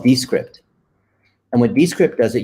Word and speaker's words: Descript: This is Descript, like description, but Descript.